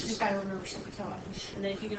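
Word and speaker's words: SOH CAH TOA: Say that phonetically. Sokotoa. Okay? Kind of sounds like an Indian, a cool Indian name, doesn't it?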